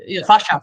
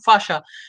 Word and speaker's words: fascia: do Dr K and this interesting documentary about fasia do I pronounce it right f f f f fasha fasha actually F fascia tissue in our body uh so I simply